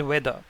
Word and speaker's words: whether: two words weather and weather the first one is spelled as w-e-a-t-h-e-r and the second one is spelled as w-h-e-t-h-e-r the pronunciation of both these words is the same some English language Learners